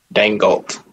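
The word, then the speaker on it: Daigneault: Dangolt. In the silent. What is it? Dangolt or Dangolt? G is silent.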